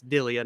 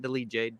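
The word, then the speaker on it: Delija: capalosa uh ante delia i say his name wrong on monday it's delia not delegate dilia went to war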